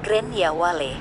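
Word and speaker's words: Gráinne Mhaol: Di pub ini, semua penduduk setempat tahu legenda Grace O'Malley yang disebut sebagai Gran Waile, diucapkan Gran Ya Wale dalam bahasa Gaelic.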